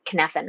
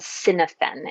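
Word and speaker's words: Cynefin: readers who are interested it's not spelled kinefin at all right it's it's spelled cynophene is what it looks like it's a Welsh word and it means habitat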